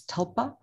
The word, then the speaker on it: tulpa: it's quite amazing you spell it a little bit like tulip but it's tulpa and if you go